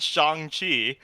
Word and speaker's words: Shang-Chi: justified with the young pronunciation because now that shanghi is out and they're making a deliberate effort to pronounce it shang-chi now uh everyone will know the proper pronunciation